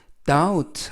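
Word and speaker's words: doubt: 발음의 조심 하실 것은 따 웃 할 때 b 발음이 묵음 즉 발음이 되지 않습니다 그래서 발음 하실때는 b 를 빼고 발음 하시고요 다음 그 다음 라고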